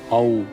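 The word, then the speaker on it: औ: Its broader variation is Au. pronounced like the ow in how. The wider form of combining a long A with U. It demands the broadest possible initial opening before snapping into a forward round.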